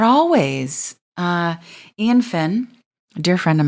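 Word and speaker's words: Eoin: And by the way, Ian Finn, Ian is spelled E-O-I-N, Finn, F-I-N-N.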